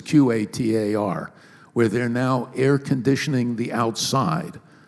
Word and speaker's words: Qatar: I'm not sure how you pronounce it. There's no U. It's Qatar, where they're now air conditioning the outside.